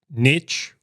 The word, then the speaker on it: niche: start again all right Niche rhymes with Rich for a reason all